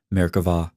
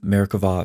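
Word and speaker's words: Merkavah: of Jewish mysticism called marava mysticism frequently spelled with a B but pronounced with a V Mera or Throne mysticism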